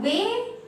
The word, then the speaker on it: whey: line is whey now whey rhymes with gray and play so it will be